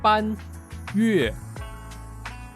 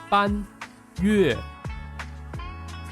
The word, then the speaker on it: Banyue: And this is how we pronounce it. Banyue. Banyue.